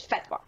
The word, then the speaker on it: fatwa: so okay but can well they correct Arabic pronunciation of it is fatwa okay yeah that's how